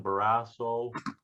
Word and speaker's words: Barrasso: wyoming i think it's john barrasso rhymes with you know what yep uh this week